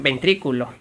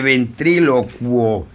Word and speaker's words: ventrílocuo: Don Pascual que es ventrículo no se dice ventrículo Eso suena otra cosa no sea vulgar se dice ventrilocuo ventrílocuo tampoco de estarle